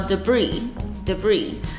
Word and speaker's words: debris: 那它的意思是碎片的意思，它的尾巴呢是有一个 S，但那个 S 是不发音的。